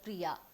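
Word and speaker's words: प्रिया: look at an example consider the word priya which is pronounced with a long ah at the end this has two syllables pre and yah this cells will be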